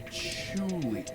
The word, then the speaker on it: Chewley: It's spelled like patchouli, but it's prepended with Fidd, so it's funny.